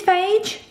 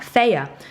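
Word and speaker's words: Fage: You think it's phage? It's not. It's pronounced fire. Did you know that? Faya. So this is actually how you're meant to pronounce it. It even tells you on the side of the pot.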